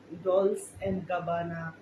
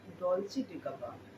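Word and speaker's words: Dolce & Gabbana: এটা ডলস অ্যান্ড গাবানা, ডলস ডলসি অ্যান্ড গাবানা বা ডলসি অ্যান্ড গাব্বানা কিছু না, ডলচে ডে গাবানা, ঠিক আছে।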